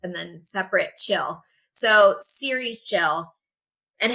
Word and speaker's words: Ceres Chill: So, the name the way I pronounce it is series chill. Like a Netflix series, but it's spelled C as in cat E R E S and then separate chill. So, series chill.